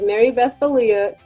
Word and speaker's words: Marybeth Baluyot: me by my full name my name is mary beth belluya don't call me a one-armed athlete because we